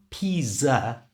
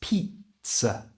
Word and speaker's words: pizza: in your own language in English we add a t sound to it so it's not pizza it's Pizza Pizza you try pizza so the